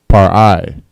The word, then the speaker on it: par'ai: Uncover is par'ai. Par'ai. Pa, ra, and I. The pa and ra connect. Par'ai. All right.